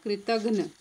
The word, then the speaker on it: कृतघ्न: उपकार को न मानने वाला कृतघ्न, ध्यान देना उच्चारण, उपकार को न मानने वाला कृतघ्न।